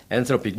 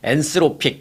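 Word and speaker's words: Anthropic: 엔트로픽 뉴스를 통해서 이제 많이 들어보셨는데 한국 뉴스를 통해서는 이제 엔스로픽 뭐 이렇게 얘기하는데 TH 발음 우리가 싫어하는 TH 발음입니다.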